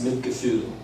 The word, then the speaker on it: Mitgefühl: And that word is Mitgefühl. If I pronounce the umlaut right, it's Mitgefühl, which literally means feeling with.